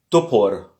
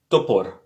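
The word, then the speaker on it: топор: Comme je vous ai dit, l'accent est sur le premier O, le deuxième O est prononcé comme un A faible.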